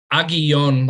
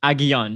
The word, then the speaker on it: Aguillon: Aguillon, like the two L's are a Y sound. Okay, Aguillon.